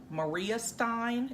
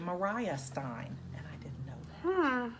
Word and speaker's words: Maria Stein: it's it looks like Maria Stein is another little city up there it's actually mariah Stein so you learn something